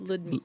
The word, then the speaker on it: Ludmya: it's Okay, I was just wondering how to pronounce it. No, it's Ludmya.